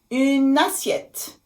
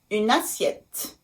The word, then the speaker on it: une assiette: Une assiette. Une assiette. Une assiette. So you see, I also make the liaison here. Because assiette starts with A, the vowel A.